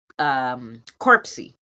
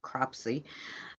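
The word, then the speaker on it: Cropsey: Like you did the Bloody Mary, how it came about, and last Sunday I had did corpsey, Co- cropsy. I should say it's the right way to say it, cropsy.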